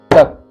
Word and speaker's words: तक: चर्चा किया हूँ कि तक ये तो है, क चुके आधा ही उच्चार, तक में आधा क का उच्चारण है, एकदम हल्का सा।